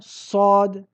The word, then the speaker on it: ص: Nous disons sad. Tu constates ici que la langue se relève jusqu'au palais, jusqu'à l'encercler comme si elle allait se coller entièrement contre celui-ci.